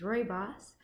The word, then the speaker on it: rooibos: vlog where I asked you guys how to pronounce that word and said it is Rory boss a South African Afrikaans word meaning red bush